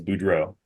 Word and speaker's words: Budrow: You know, I hear it pronounced so many different ways, but the way that my dad pronounced it was Budrow.